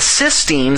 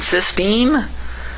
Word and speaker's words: cysteine: uh just an i i frankly don't know if i can honestly pronounce these two words differently i've heard some people say cystine and cysteine i don't know that's just too subtle for me to be able to figure out maybe you guys